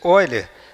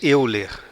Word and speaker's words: Euler: Essa pronúncia Oiler, aqui no Brasil a gente diz euler, né? Mas em alemão esse eu fala oi.